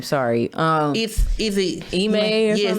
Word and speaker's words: Ime: I can't pronounce his name. Sorry. Is it Ime? Yes, Ime.